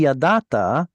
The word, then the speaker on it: yadata: It should be yadata, but because of the vav on the end, it pulls that ah vowel into an o.